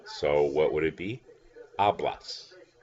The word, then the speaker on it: hablas: what would it be hablas remember you're not pronouncing the H the H is a part of the word H a PLA s